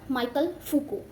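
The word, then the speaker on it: Michel Foucault: इनका time period भी आप याद रखिएगा, माइकल फूको। इनका प्रोनाउंसिएशन डिफरेंट होता है क्योंकि फ्रेंच राइटर हैं और इन्होंने बात की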